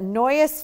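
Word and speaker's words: Noyes: what was his first name I think Noise n-o-y-e-s Okay that's an odd name isn't it I heard that as a last name and it's pronounced noise so that's what I'm going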